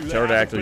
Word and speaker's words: pterodactyl: Why can't a pterodactyl use the bathroom? Because the P is silent.